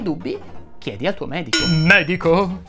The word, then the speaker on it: medico: chiedi al tuo medico medico si pronuncia con la e aperta così come molte altre parole sdrucciole tipo Pergamo Bergamo eccetera nel video precedente abbiamo